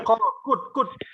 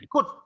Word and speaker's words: could: Bukan call, could. Bacanya could. I could run. L-nya nggak ada. Kata L-nya nggak dibaca.